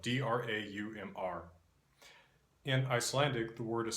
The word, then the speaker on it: draum: In Norwegian, Nynorsk, this is spelled D-R-A-U-M and pronounced Draum, Draum.